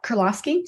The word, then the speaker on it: Kuryloski: Lauren Kuryloski. Did I pronounce it correctly? Yep, Kuryloski, sounds good.